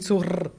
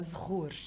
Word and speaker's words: Zehour: Aí eu tô vendo você falar, se eu pronunciar o seu nome, é Shur. É isso, Shur? Na verdade, menina, meu nome mesmo se fala Zhur.